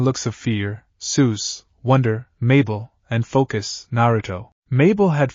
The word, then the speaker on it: Mabel: back the silence and Mabel having regained some of her original enthusiasm joined in by adding lyrics to his beatbox noises my name is Mabel it rhymes with table it also rhymes with